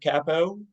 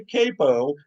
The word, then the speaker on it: capo: we've had or Campo because some people say Capo and other people say Capo and some people are very uh uh I think the Italian pronunciation is Capo I think yes okay